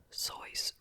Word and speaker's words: Seuss: most people Dr is Joyce Joy Seuss rejoice soys Rejoice so he pronounced it different than we do okay the